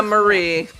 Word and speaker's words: Marie: Mary now has 117 HP. Is her name Mary or Marie? It's spelled like Marie. Yeah, Marie.